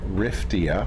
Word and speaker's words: Riftia: talking about the giant hydrothermal vent tube worm riftia it's spelled r-i-f-t-i-a I was just being a little